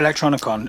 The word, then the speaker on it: Electronicon: You're asking about Electronicon. Are you asking about whether it was the which biggest I mispronounced at the start of the show? Electricon.